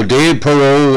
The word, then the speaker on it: Parro: going to be talking about the highly skilled dave parrot now dave perot uh p-a-r-r-o pronounced like jewel bear pro but not spelled